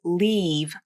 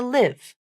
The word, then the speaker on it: leave: the same vowel e but the tricky part is sometimes non-native speakers pronounce this vowel like the short I as in bit vowel especially the word leave it's common for non-native speakers to pronounce leave closer to live or they might devoice that final consonant and say something like Lea here's where I heard